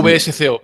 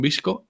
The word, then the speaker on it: VSCO: Cómo se llama visco yo le llamo vsco porque como no sé cómo se pronuncia visco visco vamos visco Supongo que estará bien porque como se pronuncia en inglés pero el qué a